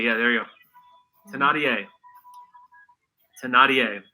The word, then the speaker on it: Thénardier: Thénardier. Thénardier. Yeah, there you go. Thénardier. Thénardier. It's a character name that this person portrayed one time. Isla of Britain, hotel atrocity, and Thénardier, whose mustache, mouth, teeth, and nose does this belong to?